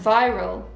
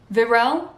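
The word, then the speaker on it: virile: he's young gorgeous and viral virel it's not viral but it's not it's spelt v-i-r-i-l-e he can go all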